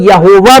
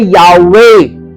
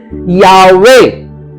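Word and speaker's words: Yahweh: यहोवा को हम लोग यहोवा बोलते हैं। लेकिन हब्रू में इसको बोलते हैं यावे। द करेक्ट प्रोनाउंसिएशन इज यावे। वाई एच डब्ल्यू एच वो लोग पूरा नहीं लिखते थे। वाई एच डब्ल्यू एच यावे।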